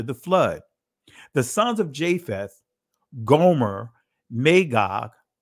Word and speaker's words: Japheth: Now these are the generations of the sons of Noah: Shem, Cham, Japheth, or Yapath, and the Israeli is Japheth, but I'm pronouncing it from the ancient Hebrew pronunciation.